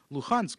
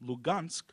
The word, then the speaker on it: Luhansk: Laden with political meaning to refer to the eastern city of luhansk by its ukra Ian pronunciation rather than its Russian lugansk conveys immediately to listeners